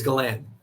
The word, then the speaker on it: Galan: Somebody really butchered it. I totally forgot, but it's Galan.